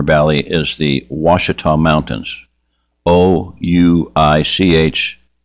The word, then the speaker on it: Ouachita: Ouachita. Ouachita. It's how it's pronounced Ouachita.